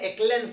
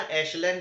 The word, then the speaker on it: echelon: है, वो होता है एक्लेन फॉर्म, है ना। एशलेन फॉर्म या एक्लेन फॉर्म, कैसे भी प्रोनाउंस कर सकते हो, मैंने डिस्कशन कर लिया है लेक्चर में इस बात पर।